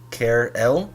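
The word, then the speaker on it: Car-L: birth to a daughter care L is actually how it's pronounced which means champions in the Kree language eventually it was changed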